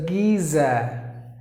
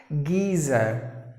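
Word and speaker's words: geyser: next word is geezer so maybe there is a yes sound spelling there but do you have to give the Z sound so géza the letter R is also silent you have to pronounce orders giza giza meaning together the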